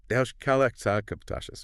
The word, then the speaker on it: Tosches: And just so we're all on the same page, it's pronounced Tosches.